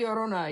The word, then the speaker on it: La Llorona: And well, I'll try and pronounce it, but I don't know. Ya Llorona? Is that La right? Llorona, yeah.